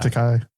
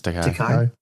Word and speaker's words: Takei: Is it Takei or Takai? Takai. It's Takai. Okay.